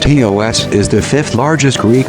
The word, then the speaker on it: Chios: Chios, pronounced Hee-os, is the fifth largest Greek island, located in the northern Aegean Sea, very close to the Turkish coast.